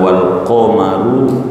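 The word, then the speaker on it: وَالْقَمَرُ: Membaca Quran oleh Imam Ibnu Katsir, Imam Nafi' dan ulama-ulama qiraat dari Basrah dengan bacaan wal qamaru, dibacanya dhammah, birrafi dengan dibaca rafa.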